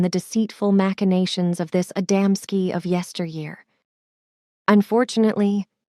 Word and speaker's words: Adamski: mentioned are well known to us but you mispronounce them the first is called adamsky the second gaves and the third mahalik these